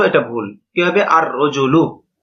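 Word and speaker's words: الرَّجُلُ: রজলুন আলিফ লাম য আল রজুলু এটা ভুল কিভাবে আর রজুলু লামটা উচ্চারণ হবে না ব্যাস এই বিষয়টা বুঝানো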